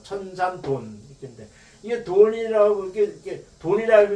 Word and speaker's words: 천산돈: 왜 조인배 같은 이렇게 얘기하냐면 이게 천산둔이라는 것이 원칙적으로 이거 돈이라고 읽어야 돼요. 근데 이것이 이제 변해가지고 둔이라고 읽더라고요. 천산돈.